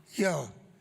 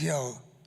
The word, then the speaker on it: Yale: a lot about Yale they call it Yale I always call it Yale with two syllables but it's yell to you guys how important to you